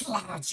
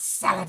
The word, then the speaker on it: slad: It's pronounced slad, you fool. It is not salad, it's slad.